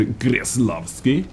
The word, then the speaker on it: Kreslavskiy: but a5 radio but this is KB for increased love scale as I said this is how it needs to be pronounced at a rate special premium heavy tank